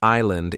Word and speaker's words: island: The word island is hard because the S is silent. Many learners want to say island. To remember it, you can think of a funny sentence. The S is lost on the island. Now you imagine the S hiding behind a palm tree, and you remember not to pronounce it.